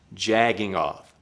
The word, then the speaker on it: jerking off: state of New Jersey, you may have heard this term pronounced jagging off. This isn't wrong or incorrect. It's just a regional colloquialism that's particular to the sort of fellows who live in these parts of the country.